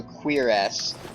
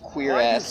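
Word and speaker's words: cuirass: about that in particular it is pronounced um that is the word that is the correct word to um say it is cures or a queer ass one of the pronunciations is queers who the hell wants to say queer ass every time they talk about it um I guess in Oblivion and other RPGs they pronounce it curious instead of queer ass because queer ass who's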